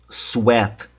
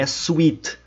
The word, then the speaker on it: sweat: Atenção à pronúncia. Sat. Suar. Não é sweet, não é docinho.